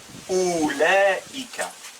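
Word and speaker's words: أولئك: Là c'est ou, c'est pas aou, non, c'est ou, la hamza e, mais on met une kasra. I-Ka. Donc ça se prononce Oulaïka.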